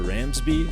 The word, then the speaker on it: Ramsbey: a special episode we have a guest Tyler ramsby I believe that's the correct pronunciation right Tyler you got it yeah super